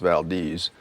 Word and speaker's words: Valdez: It looks like Valdez, but it's pronounced Valdez.